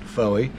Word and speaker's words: Fowey: So this is Fowey, some pronounce it Fowey, which is a really large inlet just around the coast from Polperro, where we've been staying.